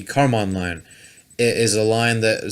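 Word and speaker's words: Kármán: So this episode's Nerd Alert is actually about what's called the Karman line. I think that's how you pronounce it. It's spelled Karman. The Karman line.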